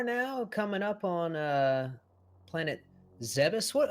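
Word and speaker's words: Zebes: you pronounce it Adam everybody has their own way I don't think there's an official right or wrong good question I traditionally pronounce it zabis the way you just did but I know certain people say zaebis and some people say Zeb ease I've never heard any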